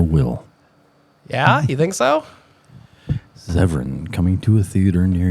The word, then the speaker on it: Zevran: Zevron coming He does. to a You look movie at theater near his you. eyes. Incorrect way to pronounce it. We changed it now. No, it's Zevran.